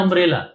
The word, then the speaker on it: अंब्रेला: अब यही देखिए यू से स्टार्ट होता है अंब्रेला। लेकिन इसके आगे जो है हम एन लगाते हैं। एन अंब्रेला लगाते हैं। क्यों? अम अम अम तो इसका जो स्टार्टिंग प्रोनाउंसिएशन है या स्टार्टिंग साउंड है वो है अम।